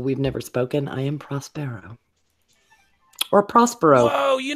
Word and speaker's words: Prospero: Hey, Prospero. Thank you for pronouncing my name correctly.